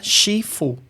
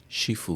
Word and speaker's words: shifu: Mas se e essa é uma pronúncia do sul da China, do cantonês. Se for em mandarim, a pronúncia da mesma palavra ela muda. Então vira chifu. Shifu.